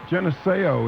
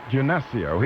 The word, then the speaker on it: Genesio: let's go to uh geneseo is the am i pronouncing your name correctly uh no geneseo genesio he's from ontario canada yeah